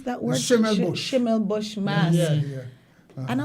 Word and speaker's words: Schimmelbusch: How do you pronounce that word? Schimmelbusch.